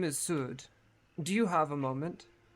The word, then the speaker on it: Sud: S-U-D, Sud? but like a long U. Sud. Okay. I was just making sure I had the pronunciation. You're good. Like ood. Yeah, like food, but Sud. Sud. Sood.